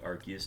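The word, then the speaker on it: Arceus: it to get all the different types like archus does so the actual pronunciation is archus but I don't say that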